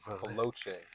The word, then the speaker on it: Veloce: Veloce.